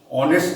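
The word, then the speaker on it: honest: অ্যান অনেস্ট ম্যান, এইচ আছে কিন্তু অনেস্ট, অ্যান অনেস্ট, এ অনেস্ট,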